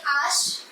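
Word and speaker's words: ache: french in french okay this is h we say ash and it's egreg so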